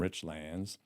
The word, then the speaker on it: Richlands: you're not from Richlands I said Richland that's right you pronounce it rich land Rich lands yes it's kind of like top Soul top cell right top soul is local top sale you're not from there which is EXA exactly opposite opposite in richs yeah why